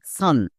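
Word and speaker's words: sun: হয়েছে কারণ এটা ব্যতিক্রম একই রকম ভাবে এস ইউ এন এটা সুন হওয়ার কথা বাট এটা সান হয়েছে তাইতো বলছি নিচের ওয়ার্ডের ক্ষেত্রে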